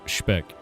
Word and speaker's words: Speck: Speck is pronounced speck. Speck.